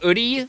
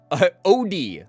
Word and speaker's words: Oodie: I will pronounce it oodie, like in oodie, like in Garfield, the fucking dog.